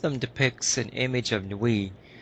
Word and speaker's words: Nuit: depicts an image of nuit I think that's the way it's pronounced correct new we oh well there's an